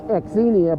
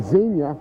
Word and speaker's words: Xenia: I said dis Z Ohio spelled with an x n i a a lot of people thinks it's exenia but it's actually Zena and it's got this